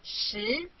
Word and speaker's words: 十: This is its syllable 十. Repeat after me 十.